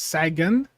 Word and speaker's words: Sagan: I mispronounce Sagan. I know it's people are saying Sagan. Sagan, right? That's the correct way, is Sagan.